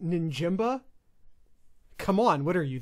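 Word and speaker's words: Njigba: to your boyfriend and go that's jackson smith ninjamba no it's pronounced ninjimba come on what are you the sloopcast mispronouncing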